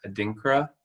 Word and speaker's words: adinkra: your letter um and i'm gonna butcher this name um adinkra symbol you did say it right yes that is what